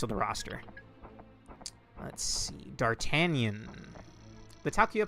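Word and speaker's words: D'Artagnan: I never knew how to pronounce this. I always pronounced it as Dart Dart Ganan or some like that. In Taku Yasugi's videos, he pronounced it as Dartanion.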